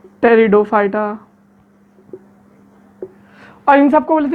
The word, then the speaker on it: Pteridophyta: टेरिडोफाइटा। P silent है भाई, टेरिडोफाइटा।